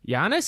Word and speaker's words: Giannis: yeah yeah yes yes giannis is how you say it yeah giannis former former um finance minister of greece during the financial crisis oh i totally thought yani was the greek pronunciation